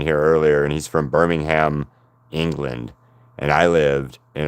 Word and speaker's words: Birmingham: Spelled the same way. said completely different. Completely different. You say Birmingham for the England one, right? And for the Alabama one, it is Birmingham. Okay. It's all one big word. Birmingham is how you say it in Alabama.